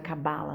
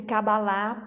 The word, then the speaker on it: Cabala: falar com a bala porque se fosse kabbalah para nós o nosso idioma teria um assento no ar e não tem né então eu pronuncio cabala e me sinto mais confortável com essa pronúncia bom então a lei